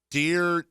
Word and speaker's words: Derwin: Phillip Rivers, Mike Pouncey, Melvin Gordon, Keenan Allen, Melvin Ingram, Adrian Phillips, and let me get this pronunciation right. Dearwin James.